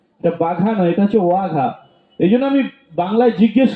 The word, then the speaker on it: ওয়াঘা: অবশ্যই সেটা বাঘা নয়, এটা হচ্ছে ওয়াঘা বর্ডার। 8 নম্বর দলের জন্য একটু জোরদার হাতের তালি। এটা হচ্ছে +5, 8 নম্বর দল +5। এটা বাঘা নয়, এটা হচ্ছে ওয়াঘা।